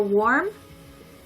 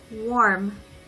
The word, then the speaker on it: warm: So warm is pronounced like the particle wa, so watashi wa.